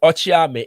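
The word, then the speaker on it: okyeame: But the KY is pronounced Ch as in Tree, and Ochiame is a title for a spokesperson.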